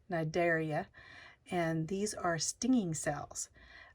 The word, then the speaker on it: Cnidaria: It looks like Cnidaria, but it's C is silent, so it's Cnidaria.